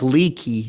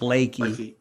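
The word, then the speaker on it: Leakey: And so somewhere around Lakey, Texas. And it looks like Leaky, Texas, but it's pronounced Lakey.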